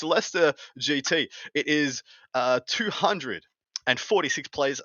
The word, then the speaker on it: Leicester: What's the first beautiful event for you guys is the Leicester GT. As I'm heard, it's called. It's not the Leicester, as it would be phonetically.